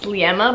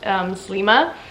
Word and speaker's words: Sliema: And yeah, we stayed in, it's spelled out Sliema, but I'm pretty sure if I remember correctly it's called Slima.